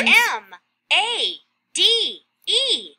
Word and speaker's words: made: this one mMmmm and that's sneaky silent e at the end M a d e made got it ok so